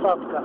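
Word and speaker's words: Сатка: опять её обгонять всё-таки правильно наверное говорить садка потому что вот сейчас по радио разговаривали водители называли ударение ставили на первую букву садка впереди там чуть подальше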